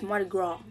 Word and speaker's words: Mardi Gras: It's Mardi Gras. But it's spelled Mardi Gras with an S. Don't nobody fucking say Mardi Gras.